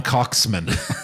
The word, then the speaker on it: Coxman: Remember, it's Baron von Coxman. So don't butcher that. Yeah, Pronounced right. Cox. And it's with a hard K. Hard K on the Cox.